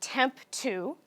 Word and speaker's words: TEMPTU: takeaways from that so temp 2 is actually pronounced temp 2 kind of how I've spelled it phonetically up